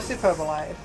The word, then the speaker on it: Superbolide: thing I still have superbolide you'll not escape this I'm pretty sure it is supposed to be pronounced super B but I've always pronounced it superbol so I'm going to keep doing that because I'm stubborn you're